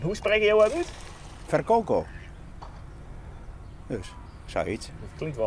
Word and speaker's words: Virkoko: En hoe spreek je jou uit? Verkoko.